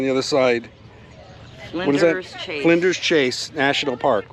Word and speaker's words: Flinders Chase: Flinders Chase National Park, right? Did I pronounce that right?